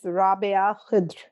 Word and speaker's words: Rabia Khedr: Have I pronounced your name even remotely correctly? Close enough. It's Rabia Khedr. Rabia Khedr.